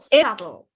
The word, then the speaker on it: subtle: Subtle. It is written with a B, so make sure that when you're writing, you actually spell it in the right way, but the way you pronounce it is subtle.